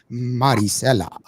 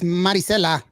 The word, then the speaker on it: Marisela: I have to pronounce her name Marisela. Yes. Marisela. Because when I first interviewed her at the very first time that I interviewed her, her mom was like, "It's Marisela."